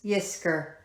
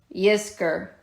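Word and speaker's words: Yizkor: times a year in the Jewish faith is Yer remember that four times a year Yer okay y i z k o r all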